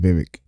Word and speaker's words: Vivek: Yeah, Vivek, I've I finally can say his name correctly now because he said it's like cake. So you said Vivek.